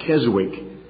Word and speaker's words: Keswick: Perhaps you've heard that word, K-E-S-W-I-C-K. Most Americans pronounce that Keswick, but the W is silent, it's Keswick.